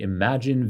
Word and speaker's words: Imagen: introduce you to the Imagine video model published upon just a few weeks ago by researchers from Google first let's talk about the clever name while pronounced imagine to allude to the creativity of the